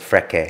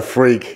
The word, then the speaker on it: Freke: I'm glad you don't try to pronounce it Freke. Yeah, I know, no, Freke.